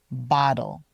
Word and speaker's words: bottle: Bottle is spelled with two T's, but it sounds a lot like a D when we're saying it naturally. Bottle.